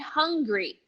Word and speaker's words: hungry: Then you pronounce it because the G is part of the next syllable, anger and hungry. But pay attention, we are not going to close the tongue here when we say hungry. It's not hungry. It's the same sound, hung, but now you say the G, hungry, anger.